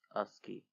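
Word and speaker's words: ASCII: The ASCI pronounced as ASI code is a seven bit code and so it has to 7 equals 128 possible code groups.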